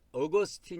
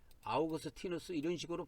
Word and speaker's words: Augustinus: 아우구스티누스 라는 사람 이 있지만 , 개신교 에서 는 " 아우구스틴 " 이라 고 발음 합니다 . " 아우구스틴 " 은 영어식 발음 입니다 . " Augustis" 는 라틴어 발음 이므로 원래 정확 한 발음 은 "Augustinus" 여야 합니다 .